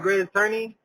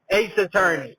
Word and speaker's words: Ace Attorney: Am I saying it right? Great Attorney? Yeah, Ace Attorney. Ace Attorney.